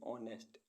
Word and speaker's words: honest: ऐसे वर्ड्स जिनमें alphabet H silent रहता है। HONOUR ऑनर, ऑनर मीन्स सम्मान। HONEST ऑनेस्ट, ऑनेस्ट मीन्स ईमानदार।